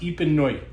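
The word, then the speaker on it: Épineuil: This is an area called Bourgogne Epineuil, and it's pronounced Epineuil. Bourgogne Epineuil, and it's Pinot Noir.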